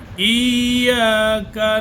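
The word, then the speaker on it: إِيَّاكَ: ইয়াকা, ইয়া, ইয়া দুইবার। এখানে ইয়ার উপরে তাসদীদ রয়েছে, উপরে জবর রয়েছে, এজন্য আলিফকে দিয়ে ইয়াকে পড়তে হবে। ইয়া দুইবার উচ্চারণ হবে।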